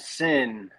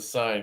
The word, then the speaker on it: Syn: the uh the old sin there it is baby i always want to call it the sign because you spell it with a damn white i know every time